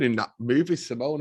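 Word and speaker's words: S1m0ne: love that and if you haven't seen Sim Simone it's spelled Sim One S M and then a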